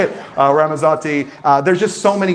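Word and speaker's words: Ramazzotti: Uh I always call it raasmataz. And that's not the correct way to say it. Ramazati.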